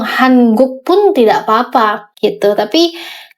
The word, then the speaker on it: 한국: Sebenarnya ada dua versi, boleh 한국 karena ketika kita berbicara dengan native speaker ya, biasanya kalau yang udah ngomongnya cepat itu kedengarannya jadi 한국. Tapi kalian ngomong Hanguk pun tidak apa-apa gitu.